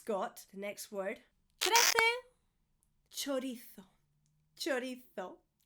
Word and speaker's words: chorizo: I'm Spanish, that's why I'm doing the TH at the end, the th. Chorizo. In Latin America, in the south of Spain, in the Canaries, they would say chorizo. Both are correct, but the one that's not correct is chorizo.